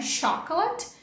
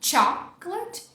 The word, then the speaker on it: chocolate: Sílaba tônica é a primeira, não é essa aqui. O som do CH é o tch de tchau, então não é chocolate, e sim chocolate.